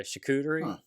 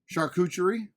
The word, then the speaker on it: charcuterie: that's no that's legit yeah chacuteri yeah i've said that wrong for a long time how you say it like charcuterie charcuterie oh like yeah it's